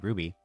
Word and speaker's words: RWBY: also did stuff for shown name Ruby but I pronounced RWBY for the longest time because I never actually said it out loud.